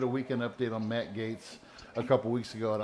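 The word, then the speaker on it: Gaetz: while ago uh i i can't pronounce his name but it's matt gates and i believe it just i believe it's spelled like g-a-e-t-z or something like that yeah and this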